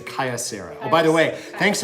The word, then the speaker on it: Kyocera: cutting device it's made by cryo Sarah was a Kaia Sarah oh by the way